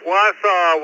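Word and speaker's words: Wausau: Am I pronouncing that right, Bill? RIB. Uh, no. It's Wasau, Wisconsin.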